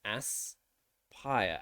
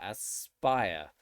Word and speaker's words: aspire: sounds so two syllables there are two syllables in the word aspire so it's ass pyre as spire so when a word